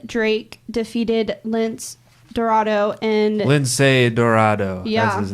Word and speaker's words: Lince Dorado: Lindsay Dorado.